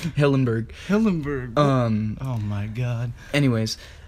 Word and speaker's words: Hillenburg: Steven Hillenburg. You didn't even say his name right. But I feel like... What's his name? Hillenburg.